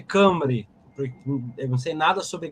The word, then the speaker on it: Cymru: Cymru, mas se lê Cambre.